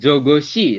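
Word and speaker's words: 저것이: Nah, dibacakan jogoshi. Seperti itu ya. Dibacanya jo, go, shi.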